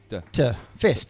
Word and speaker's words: PHIST: It's PHIST. Fist. Fist.